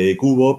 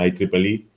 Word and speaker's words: IEEE: La forma de pronunciarlo, en España se pronuncia IEcubo, pero si os movéis por ahí fuera, en general en Latinoamérica, pronuncian IEEE, que es como se pronuncia sobre todo en inglés. Pero como digo, cualquiera de las dos acepciones es como tal.